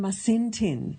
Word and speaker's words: Masintin: And the book we're going to discuss today, Hilary, you will correct me if I mispronounce it, Yanantin and Masintin in the Andean World, Complementary Dualism in Modern Peru.